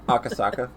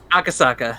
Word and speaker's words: Akasaka: I can't pronounce it. Akasaka. Akasaka.